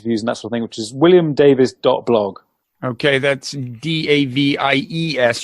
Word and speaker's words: Davies: something which is William Davis blog okay that's DAV IES you pronounce it Davis to you I do